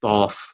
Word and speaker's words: Thoth: I you know I there's different ways of pronouncing it you know I default III default to Thoth but it but yes it's probably supposed to be the Toth um but I've heard